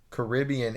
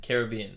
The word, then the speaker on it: Caribbean: As the region is named after the Caribs, the technically accurate pronunciation of the word Caribbean is Caribbean. Caribbean. However, many people, some Caribbean natives included, prefer the pronunciation Caribbean, and so both directly are relatively commonplace.